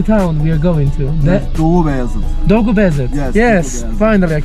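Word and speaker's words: Doğubayazıt: Dogubayazit.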